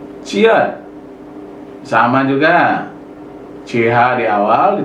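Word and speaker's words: 치읓: Ciat sama juga, CH di awal, di tengah CH, di akhir T. Kiat nomor 11.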